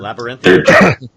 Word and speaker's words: labyrinthine: Labyrinthine.